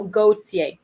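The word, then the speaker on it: Gaultier: the fashion designer okay so gautier gautier i obviously pronounce it the quote-unquote corrective french way so gautier okay let me find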